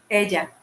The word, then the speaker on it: Ella: Is it pronounced Ella or Elia? Ella.